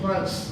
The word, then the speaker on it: Gross: The pronounces it Gross.